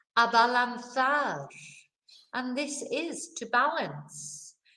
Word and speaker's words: abalanzar: Abalanzar. And this is to balance. You know, so again, balanzar is, you know, nice and easy. It sounds like what it is in English, balance.